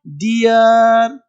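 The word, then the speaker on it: dear: ये देखो डियर, ये डीर नहीं, देखो कुछ पढ़ देगा डीर। अब ये डी डबल डीर थोड़े है, डबल इक्वल आर है, डियर, डियर, cheer, फियर, नियर, ठीक है जी।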